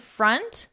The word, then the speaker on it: front: With font and front, notice the vowel. We have an aw, aunt. Here we have a, unt. Font, front.